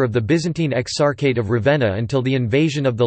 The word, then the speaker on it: Ravenna: Ravenna, Italian pronunciation, Ravenna, also locally Ravenna, listen, Romagnol, Ravenna, is the capital city of the province of Ravenna, in the Emilia-Romagna region of northern Italy.